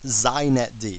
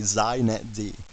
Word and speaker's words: xinetd: First, it's pronounced zet D. So if you want to be hip, you say zet D.